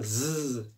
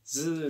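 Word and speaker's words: ず: 이거 즈 같은 경우도 스가 아니라 즈 즈 이렇게 조금 진동이 있습니다 요거는 이제 새가 아니라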